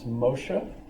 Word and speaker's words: Moses: I mean, I understand that it's Moshe, would be the actual pronunciation in Hebrew.